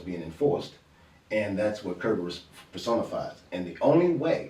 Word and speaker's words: Kerberos: Yeah, Kerberos, not yeah. Cerberus.